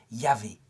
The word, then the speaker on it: Yahvé: » Je suis, et ça se prononce en hébreu, Yahvé.